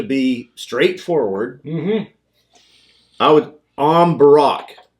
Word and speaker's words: Am Bùrach: going to be like first of all it's not even going to be the am it's going to that's going to sound like em yeah so it's the